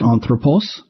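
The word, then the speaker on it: ἄνθρωπος: Some non-verbs are born with an accent on their antepenult, like anthropos.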